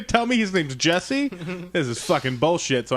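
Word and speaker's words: Jussie: That's not how you say his name, but that's how I say it, because his name is, when people call him Jesse, and I'm like, that's a U. His name has a fucking U in it.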